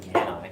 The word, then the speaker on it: Cannae: I like to pronounce it Cannae, because A-E-N is like an I in Latin.